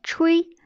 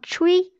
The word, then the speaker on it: chui: les dents et les dents adjacentes le son chui est associé au rein dans le contexte de la médecine traditionnelle chinoise en prononçant chui cela a pour effet de purger le ti